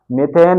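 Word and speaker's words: methane: एन नाम हो जाएगा मेथेन एक ही समझना जो मेथेन है हिंदी में मेथेन बोलते हैं और उसको आप प्रोनाउंस कर सकते हैं मीथेन एम ई पी एच ए एन ई मीथेन है ना ऐसे ही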